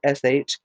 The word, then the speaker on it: Chemosh: People, O Chemosh, that's Chemosh.